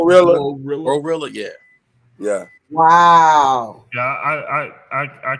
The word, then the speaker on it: GloRilla: Was it Gorilla? How do you say her damn name? Glorilla.